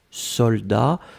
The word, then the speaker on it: soldat: et c'est le mot soldat. Je regarde, vous l'avez bien écrit, attention save the best, soldat avec un T final, on ne prononce pas le T, mais logiquement il devrait être là, d'accord?